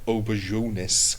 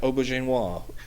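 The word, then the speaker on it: Auberjonois: like two years ago i pronounced it aubergines because i never knew how to pronounce it is it aubergine war yeah okay i need to make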